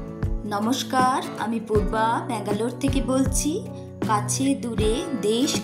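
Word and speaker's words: ಬೆಂಗಳೂರು: নমস্কার আমি পূর্বা ব্যাঙ্গালোর থেকে বলছি কাছে দূরে দেশ ও দেশের বাইরে যে যেখান থেকে আমার ভিডিওটি দেখছেন সকলকে আমার আন্তরিক শুভেচ্ছা ব্যাঙ্গালোরে বাঙালি চ্যানেলে আপনাদের সকলকে আবারো স্বাগত দক্ষিণ ভারতে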